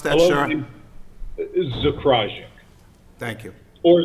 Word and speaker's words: Zakrajsek: How do I pronounce that, Hello, sir? Zakrajsek.